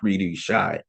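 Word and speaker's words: cri du chat: a year are born with what is called creedu Shai it's spelled c r i c u d c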